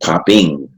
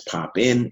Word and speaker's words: Popin: is you know especially it's pronounced popping out he was you know are seeing my name as pop in people thought that was what the dance how I pronounce it but it's actually popping and so and when